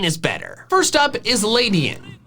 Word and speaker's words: Ledian: First up is Ladyin. I say it like that because there are countless words in English that end in IAN that are said like Ladyin. Humanitarian, pedestrian, median, the name Ian.